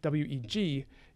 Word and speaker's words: weg: road with whey way weg is the ancestor of modern english way w-a-y it's actually pronounced basically exactly the same although it looks a bit different okay an thought sumahi